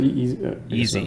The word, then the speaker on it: Yeezy: Is that how you pronounce it? Yeezy.